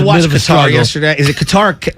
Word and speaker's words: Qatar: the half I watched guitar yesterday is it guitar how do you pronounce it it's cutter but uh you can say guitar you can